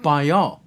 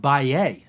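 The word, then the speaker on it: Bahia: a region in brazil called bio or you can pronounce it by a depending on where you're from let's get started by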